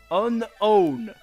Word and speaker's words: Unown: Apparently, the official pronunciation of its name is Unown.